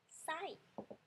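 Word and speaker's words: ไส้: sai ha in Thai this one sai falling tone with this I okay sai don't confuse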